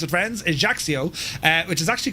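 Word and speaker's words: Ajaccio: Currently on the ground here at Haxio, that's how you pronounce it, friends. Ejaxio, uh, which is actually called Napoleon the Bonaparte Ajaxio airport.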